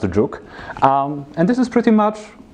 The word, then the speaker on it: jOOQ: So, for example, one of the tools like this is JOOQ, or pronounced Juk.